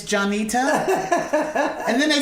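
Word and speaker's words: Jon'Nita: and for the industry I spell it jo n apostrophe capital n ITA so they will say it right oh look at that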